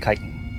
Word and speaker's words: chitin: And it's pronounced chitin, or chitinous.